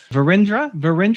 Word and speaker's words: Virendra: Virendra, did I pronounce that okay? Yeah, that's right.